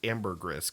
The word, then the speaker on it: Ambergris: I had to check to see if it's pronounced Ambergris because that doesn't sound right. It is.